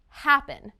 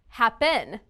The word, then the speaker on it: happen: verb happen listen again happen it's the first syllable right listen to the pronunciation if the second syllable has stress happen that's a little strange